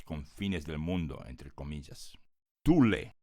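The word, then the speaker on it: Thule: del mundo entre comillas Tule que hoy en inglés se escribe como th h u l e se ubica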